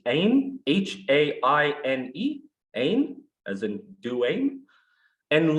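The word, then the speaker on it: haine: brought together the words hatred in french it's aim h-a-i-n-e aim as in and love he brought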